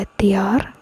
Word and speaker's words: الديار: أمر على الديار أمر على الديار أمر على الديار أمر على أمر على الديار الديار. You pronounce a little bit more deeply in the d.